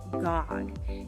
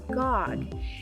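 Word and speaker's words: gaag: at them together so a porcupine is a gog g-a-a-g a gog and porcupines sometimes when they're nervous or they're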